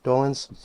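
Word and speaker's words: Dolenz: and you talk about your friendship with Mickey dolins did I say his name right dolins yes and and his wonderful wife and the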